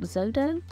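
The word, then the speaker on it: Xodo: they've rebranded recently and I think it's pronounced zodo why have a business name that nobody can pronounce x o d o and this is an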